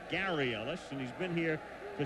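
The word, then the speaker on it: Garry Ellis: Wilson Gary Ellis and that is the way he pronounces it even though he spells it g r r y it's Gary Ellis and he's been here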